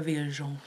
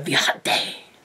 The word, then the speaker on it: viajante: I feel like it is more of a viajante. That's the Portuguese pronunciation. Or the viajante by Alejandro, which is the Spanish pronunciation.